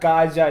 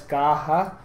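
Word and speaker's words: Caja: which we have kaha it's not Kaja it's kaha kaha is actually the file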